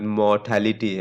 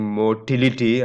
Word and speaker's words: mortality: is that you know the proper pronunciation of the word mortality I I hear even professors saying motility uh motility is what you see in sperms right motility or motility right that's not this this mortality death threat right more